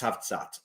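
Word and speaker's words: Cavtat: Is it a place called It's pronounced Savsat, but it's spelled like Cavat. Is it Kavat you going to Chris?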